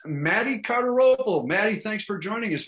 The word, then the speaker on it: Cardarople: comedy reservation dogs which is great it's maddie cartero maddie thanks for joining us man how you doing thanks for having me and perfect pronunciation yeah you do have you have a tough name there but carter opal i got it right and my middle name's